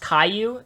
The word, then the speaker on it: Caillou: who don't see the difference between that is pronounced Caillou is it Caillou oh it's Caillou dude I